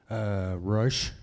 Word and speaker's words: Resch: Anyway, how do you pronounce it? Rush. Okay, Rush.